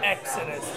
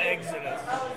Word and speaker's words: Exodus: a huge fan of Exodus and I always say Exodus not Exodus only because Monty from Road Runner sent me an email and he go dude it's Exodus not Exodus like eggs at us and I wrote him